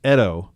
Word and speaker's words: Edo: Edo is pronounced Edo.